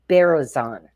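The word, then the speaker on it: Berezin: So Evelyn, and her last name is pronounced Berezan.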